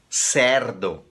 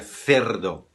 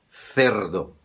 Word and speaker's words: cerdo: Tem gente que fala cerdo com E errado, seria cerdo, cerdo, tá? Com E.